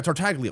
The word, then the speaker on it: Tartaglia: Yeah, Tartaglia. Well, the G is silent.